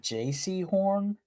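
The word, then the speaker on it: Jaycee Horn: Uh, is it JC Horn or I swear that's his name, but it's spelled out JC like not the the not the letters but J A Y C name.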